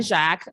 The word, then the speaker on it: Jacques: My name is Jacques. We had to practice several times. The S is silent.